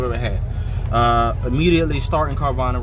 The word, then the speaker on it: Carvana: you okay do know carvana excuse me carvana is how you say uh a starter company